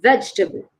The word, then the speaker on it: vegetable: can you see so the second e is silent here vegetable vegetable vegetable okay now the most